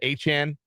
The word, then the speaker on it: Etienne: Travis Etienne is how he wants his name pronounced.